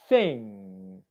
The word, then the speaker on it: thing: Never, ever make a G sound at the end of a word when the spelling is NG. It's always pronounced mm. So for example, it's not finger, finger, it's thing, thing, thing.